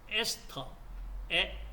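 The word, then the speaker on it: ester: 자, 중성 지방은 이와 같이 그리세의 지방산 세 분자가 COR 그러니까 에스터에 독일식 발음으로 에스테를 하지 마시고 영어식 발음으로 에스터 에스터 결합을 이루고 있는 자이 형태가 중성 지방입니다.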